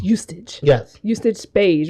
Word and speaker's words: Eustace: It's Eustace.